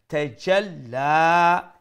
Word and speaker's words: تجلى: মুলায়ম করে উচ্চারণ করবা tajalla ended the lam as a shadda double letter double sound and plus will stretch